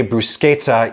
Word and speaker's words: bruschetta: Bruschetta and bruschetta both only use sounds that are available in mainstream American English, but the latter is closer to the original